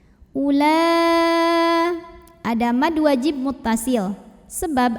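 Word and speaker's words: أولى: Ula, o-nya bukan pemanjang, bukan waw mad, walaupun hamzahnya dhammah, bukan mad badal, jadi jangan dipanjangkan. Ula, ada mad wajib muttasil,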